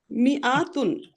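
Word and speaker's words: مِائَة: এটা শুধু লেখায় থাকে, উচ্চারণে থাকে না।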